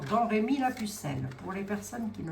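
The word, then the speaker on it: Domrémy-la-Pucelle: Elle est née à Drémi que l'on prononce d'ailleurs Don Rémi la pucelle pour les personnes qui ne le savent pas ça se peutin.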